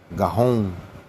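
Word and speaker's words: גאון: Strong's H1 1347, Gaon Gaon, it's pronounced in the in the modern Hebrew, it's pronounced Gahon.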